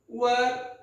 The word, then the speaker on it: were: अब है वेरी few poets of England वर so great as Milton, W-E-R-E, where नहीं है वर, its pronunciation is वर।